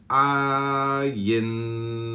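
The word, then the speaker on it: עין: Comment on ayin, pronounced ayin, transcribed as O, the number 70, meaning I, the renewing intelligence.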